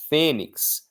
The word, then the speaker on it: Fênix: Fênix termina com X e a força não está no X, está no fé.